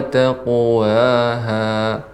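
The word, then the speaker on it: تقواها: Kemudian qafnya ketika qalqalah juga ditebalkan, wa taqwaha fujura ra.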